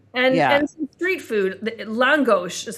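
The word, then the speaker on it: lángos: Langos is how they pronounce it.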